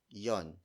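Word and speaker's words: 'yon: Yon spelled as apostrophe Y-O-N. It's a contraction of the word iyon. So instead of saying ano iyon, you just say ano yon because it's easier.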